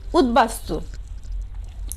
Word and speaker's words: উদ্বাস্তু: দেখো উপসর্গের সঙ্গে ব ফলা যুক্ত হলে বয়ের উচ্চারণ কি থাকবে বহাল থাকবে, যেমন উদ্বাস্তু।